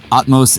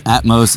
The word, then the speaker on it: Atmos: Atmos Atmos. However you pronounce like Atmosphere is how So you're like atmosphere without the sphere.